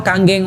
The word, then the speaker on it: Kangen: Kang ya atau kanggeng water. Nah, kanggeng ini bukan kangen bacanya Bapak Ibu sekalian ya.